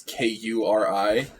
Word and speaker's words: Kuri: Bunny Boy said Curry was great. Thank And you very very tasty. much. His name is spelled like a dumb OC. It's Kuri, but I appreciate your appreciation anyway.